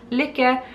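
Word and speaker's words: Lykke: The Licka needles. Licka? Yeah, ish.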